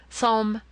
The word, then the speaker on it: psalm: This, however, is silent like the tomb. Compare such words as Tarmigan, Psalm, and Theis.